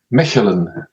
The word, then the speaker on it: Mechelen: Am I pronouncing that right? Mechelen.